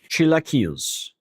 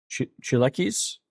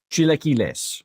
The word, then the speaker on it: chilaquiles: Google says it's chilaquiles. Okay. Is it pronouncing it like Castilian Spanish or like Mexican Spanish? Because that does make a difference. Just says American pronunciation. Oh, that's probably the wrong Spanish. Mexican Spanish. Chilaquiles.